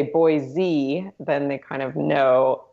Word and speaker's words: Boise: is they'll say like Boise with a Z but the proper pronunciation is actually Boise like almost like boy with the letter C yeah so people around